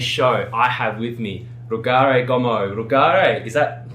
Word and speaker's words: Rugare: Rugare, you've really got to roll the R. You have to roll the R. Rugare is my name.